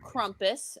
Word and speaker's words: Krampus: them are about like krampus as they told me it's pronounced i believe them because i can't pronounce the thing right uh it's a lot